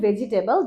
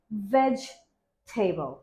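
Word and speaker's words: vegetable: তারপর এটাকে আমরা বলি ভেজিটেবল যেটা ভুল এটা হবে ভেজিটেবল ভেজিটেবল ভেজিটেবল not veggie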